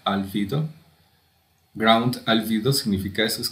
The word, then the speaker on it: albedo: Esto que dice ground albedo, se pronuncia albedo.